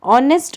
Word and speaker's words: honest: Honest, honor, our. Here H is silent.